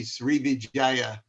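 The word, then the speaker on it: Sriwijaya: a slow learner but i believe it to be srivijaya um the the v is for uh w is your place of the v but anyway anyway they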